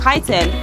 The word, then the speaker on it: chitin: Which of these animals has a hard outer shell made of a substance called chitin? Crab, human, koala. And yes, that says chitin, everybody. Don't pronounce it any other way.